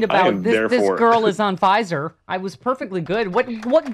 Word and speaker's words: Pfizer: It's power doesn't sound like Pfizer.